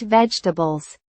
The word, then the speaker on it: vegetables: I eat vegetables. The middle sound becomes weak.